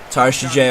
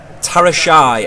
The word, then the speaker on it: Tarashaj: Tarashajay on the ball. We're gonna find Martinez now. Back to Tarashajay. Here's Tarashai. Tarashai, okay, that's how it's pronounced. Tarashai, not Tarashajay.